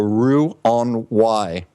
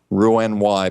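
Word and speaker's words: Roux-en-Y: offer now the first one is called the Rue on why a gastric bypass and this is spelled r 0 ux hyphen n hyphen and then the letter Y ruin y bypass there's a nice youtube video on this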